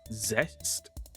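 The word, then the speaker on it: Zeztz: I've been saying zets. I don't I've been told it's zest. So, it's kind of like rest because it's sleep based.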